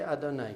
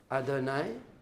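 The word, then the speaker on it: אֲדֹנָי: Actually, you can actually say Adonai because it's spelled Alid, Dalid, Nun, Yud. It's not spelled Yud and Hey, Abab and Hey. So, Adonai.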